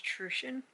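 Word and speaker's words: Truchan: who grew up with my last name is trueshin my maiden name and i just t-r-u-c-h-a-n and i had so many people pronounce it wrong all the time and it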